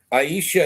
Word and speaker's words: Aisha: Aisha is how you pronounce it, at least in English.